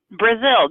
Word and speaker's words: Brazeal: Brazeal, just like the country. Very Excellent. good. Brazeal. Welcome. We've got Brazeal joining us.